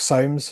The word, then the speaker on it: Solms: There's a man called Mark Soames, who is which is spelled Solms, who Okay.